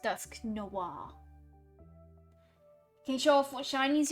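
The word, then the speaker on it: Dusknoir: every Rumble weekend but I used to like growing up saying dusk Neuer it feels weird his name actually feels wrong now that I know that it would technically be pronounced dusk Noir can show off what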